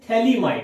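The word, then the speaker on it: phthalimide: Students, गैब्रिल scientist का name है, थैलीमाइड, इसमें PS साइलेंट रहता है।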